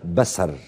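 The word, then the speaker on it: בשר: الع عبرانيه وقال ان كلمه بشر نطقت بسر وليس بشر طيب دكتور البهي الخولي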